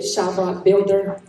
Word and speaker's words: Chi Block Builder: Yeah, Shy Block Builder. That's the name of the website. It's Shy Blockbuilder. Can you Can you spell that for me? Shy like Chicago. CHI block builder.